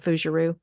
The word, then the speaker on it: Fougerousse: it's the other one's just my name fueru and I guess you can spell that out because it's not it's not going